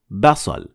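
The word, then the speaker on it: بصل: Basal. It means onion. Notice how we say ba, and it even comes back in how we spell it in English. B.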